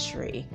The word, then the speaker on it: Shri: S-R-I is Shri.